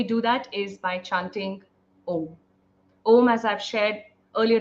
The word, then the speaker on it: Om: When we are chanting Om, we are combining three syllables together: A, U, M.